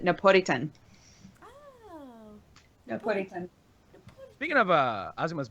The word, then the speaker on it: Napolitan: Apparently, in Japan, they pronounce it Napolitan.